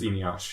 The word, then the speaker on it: Eneasz: Really quick, it's Eneasz, not Eneasz, right? Either one will work, but I generally introduce myself as Eneasz, yeah.